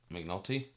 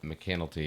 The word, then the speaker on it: McAnulty: McNulty? That makes sense, but it's spelled M lowercase c capital C ANULTY. So McAnulty? McAnulty, yeah.